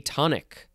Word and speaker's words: atonic: to move on to a atonic it's like the word tonic with an a it is an adjective